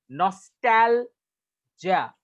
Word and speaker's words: nostalgia: जब आप टैल बोलोगे तो टैल में आपका प्रोनाउंसिएशन हायर पिच में रहेगा. नॉस्टैल्जिया. इट्स not Jiya, it's जा. ए के बाद ना ई साउंड होगा ना ए साउंड होगा, ये ई और ए का मिक्स होगा ये.